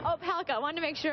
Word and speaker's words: Opalka: Opalka. Opalka.